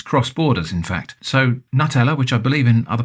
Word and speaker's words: Nutella: So Nutella, which I believe in other parts of Europe is called Nutella, is called Nutella here. And again, the brand has run with Nutella because that's the natural pronunciation in the UK.